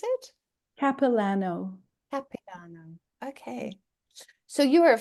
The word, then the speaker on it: Capilano: and I don't even know whether I uh pronounce it cap capano University you know it's interesting because it looks